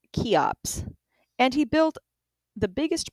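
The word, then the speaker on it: Cheops: Senaphu was succeeded by his son Kufu, known to the Greeks as Chops, pronounced Kops, and he built the biggest pyramid of them all.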